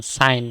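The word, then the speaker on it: sign: ডিজাইন next আছে এস আই জি এন সাইন জি সাইলেন্ট যেটার আমরা হয় সাক্ষর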